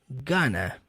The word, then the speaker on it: going to: Todas as vezes que tá going to, ele pronuncia gonna, ok?